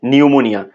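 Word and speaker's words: pneumonia: এল মিসপেল তারপর হচ্ছে নিউমোনিয়া নিউমোনিয়া যখন বানান করব প্রথমে আমরা নিউমোনিয়া বানান করব এন ই ইউ এম ও এন আই এ নিউমোনিয়া কিন্তু প্রথমে একটা পি দিয়ে দিব তাহলে হচ্ছে পি এন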